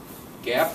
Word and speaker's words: GAAP: It's based on generally accepted accounting principles, GAAP, pronounced GAAP.